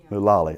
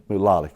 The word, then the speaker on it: Mulally: Mulally. Okay. Mulally.